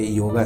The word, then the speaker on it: योग: कृपया जोगा ना कहे आप जब इंग्लिश में बात कर सकते हैं बेशक योगा कह सकते हैं पर जब आप भारतीय भाषा में बात करते हैं तो इसे योग या फिर जोग इस तरह प्रोनाउंस करें अब आइए समझते हैं